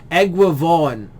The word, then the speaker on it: Eguavoen: It's Eguavoen. Egravon. Anyway, whatever, man. I'm sorry, dude. I keep forgetting how it's pronounced.